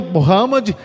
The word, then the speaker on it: Muhammad: Mas a pronúncia que eles usam mesmo é Muhammad, que é o profeta, mas para a gente, Maomé.